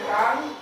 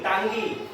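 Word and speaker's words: tongue: एन जी यू ई तो टी ओ एन टांग जी यू टी जी टांगी ना टांगी नो टांग टांग टांग माने जीभ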